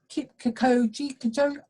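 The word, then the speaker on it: Kipchoge: I want to pronounce it as Kikoji, I think.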